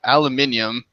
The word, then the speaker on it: aluminium: Aluminum? Oh. Aluminum? Every other like Euro person I have ever spoken to has pronounced it aluminium.